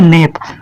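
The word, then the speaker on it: knap: इसको पढ़ेंगे नेप, यन एपी नेप, क्योंकि इसलिए नहीं पढ़ेंगे क्योंकि ये आपका चुप है, साइलेंट है।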